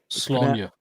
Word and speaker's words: Sláine: It's supposed to be Sláine. Sláine. It's pronounced Sláine."